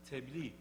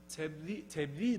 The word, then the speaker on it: tebliğ: And in Turkey, the closest counterpart, there is no exact counterpart, but the closest counterpart is tebliğ, another word from Arabic. The Quranic pronunciation is tabliğ.